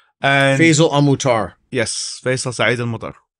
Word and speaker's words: Faisal Saeed Al Mutar: Yes, Faisal Saeed Al Mutar. That's the way to pronounce it in Arabic, but it's it's the easiest way to remember my name is Face with Al.